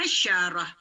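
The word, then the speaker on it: عشرة: 10 tulisannya seperti ini dibacanya asyarah asyarah dengan Ain dan syin asyarah asyarah asyarah baik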